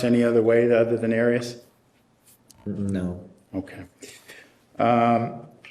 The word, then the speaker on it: Arias: there is there is have you ever heard pronounced any other way other than Aries no okay um how did you come to